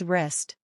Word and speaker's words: wrist: right is pronounced right wrist becomes wrist wrong is wrong just skip the W entirely when speaking these words silent G finally the